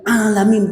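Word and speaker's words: عَالَمِين: puji milih Allah Alhamdulillah he rabbil alamin pakai Ain kalau enggak belajar enggak ngerti alamin kalau alamin alhamdulill rabbil alamin alamin artinya orang-orang yang sakit alamin orang-orang sejagat raya pakai Ain hanya salah ucap ingat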